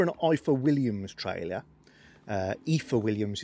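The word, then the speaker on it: Ifor Williams: eiffel williams trailer uh ether williams is a correct pronunciation but everybody still says eye for williams and it's an indispension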